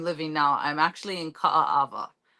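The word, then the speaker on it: Kaaawa: now I'm actually in Ka Ava so that's Three A's k a a a w okay I'm just going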